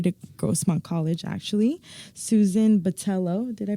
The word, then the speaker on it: Botello: to go here to Grossmont College actually Susan Batello did I pronounce that right you got it also known